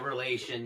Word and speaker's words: reaLation: Is that how you pronounce it, reaLation? Yeah, reaLation. Yeah, that's it. You got it.